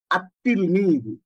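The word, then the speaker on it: التلميذ: আত-তিলমিদু। কি হয়? আত-তিলমিদু। এখানে এই আলিফ লামটার উচ্চারিত হবে না।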